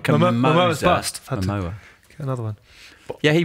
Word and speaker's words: Momoa: How do you pronounce his surname? I'm not sure. Moma? Jason Momoa.